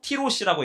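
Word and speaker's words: תירוש: 자, 이 즙이 히브리어로 티로시라고 읽어요. 포도주는 즙이 있으므로 그것을 상한 결과가 뭐냐면 야인이라고 읽어요.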